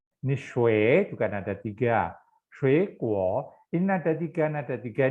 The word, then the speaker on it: 水果: Kalau ini yang artinya air, shui, nada ketiga. Tapi karena dia bergabung sama kuo, jadi kita bacanya adalah shui kuo.